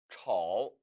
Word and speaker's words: 臭: 臭, 臭.